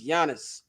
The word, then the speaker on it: Giannis: It's Giannis. One syllable.